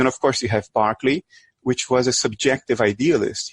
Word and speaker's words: Berkeley: I always want to say Berkeley, but it's pronounced Berkeley.